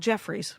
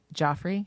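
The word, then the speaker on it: Geoffrey's: It's called Jeffrey's, but they Okay. pronounce it. Joffrey.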